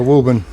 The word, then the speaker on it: Woburn: Just don't say the I. It's just so much easier. Woburn.